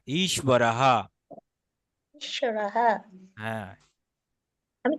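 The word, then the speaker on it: ঈশ্বরঃ: এখন ঈশ্বরকে ভাঙলে আমরা কি পাচ্ছি? দীর্ঘই পাচ্ছি। তাহলে ই অর্থাৎ এটা একটু টেনে জোর দিয়ে বলতে হবে। এটা কিন্তু দীর্ঘ ইকার, এবং এটা হচ্ছে আপনার মহাপ্রাণ, তাই না? অর্থাৎ এটাকে টেনে বলতে হবে। ঈশ্বরহা, এভাবে বলতে হবে, ঈশ্বরহা। ঈশ্বরः তালব্যস্যর নিচে ব যুক্ত আছে, কিন্তু এটা হচ্ছে ওয়া, ওয়া, ঈশ্ব, ঈশ্বরহা।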